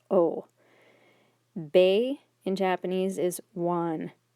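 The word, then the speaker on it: を: object particle o remember even though it's romanized as woe very few people pronounce it as woe almost always pronounced as oh bay in japanese is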